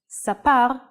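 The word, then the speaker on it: סַפָּר: and in print now let's see how the nikud changes the pronunciation and meaning of the same word cefer looks the same so why are they read differently let's look at the same words with nikud cepher is a book siper is he told and sapar is a barber the only way to guess the right reading is by understanding the context so practice your hebrew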